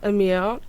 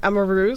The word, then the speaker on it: Amaru: Yeah, so the Hatim family, Lana and Amir, I'm pronouncing his name wrong, Amaru, sorry, they reached out